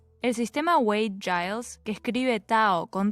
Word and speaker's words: Tao: De cualquier forma, con T o con D se pronuncia Tao.